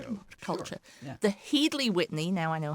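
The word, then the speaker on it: Headley-Whitney: That is I never know how to pronounce this. Is it Headley Whitney or Headley Whitney? Headley Whitney.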